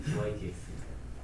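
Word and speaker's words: dy/dx: 수현이 뭐라고 읽어요? y분의 dx 저건 더 이상한데? DYDX.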